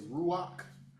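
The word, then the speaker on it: רוח: So uh so talk generally the uh the vowel comes after the consonant but when it's at the end that's what we call a fake. So the vowel will be pronounced before the consonant. So now we say ruach. So we say ruach because that the pat is under um something.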